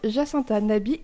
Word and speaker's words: Jacinta Nabi: Avec nous en studio, Jacinta Nabi et Charles Sanctorum. C'est comme ça qu'on prononce vos prénoms à tous les deux et vos noms ?